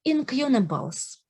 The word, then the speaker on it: incunabula: Incunabula derives from the Latin language. Therefore, there are several ways of pronouncing the words, or mainly 2. The anglicized version will be incunables.